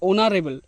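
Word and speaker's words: honorable: এক্ষেত্রে কি হচ্ছে যে এই যে এইচ এর উচ্চারণটা এটা কিন্তু থাকছে উজ্জ্ব থাকছে মানে আই মিন সাইলেন্ট থাকছে যেমন আমরা বলতে পারি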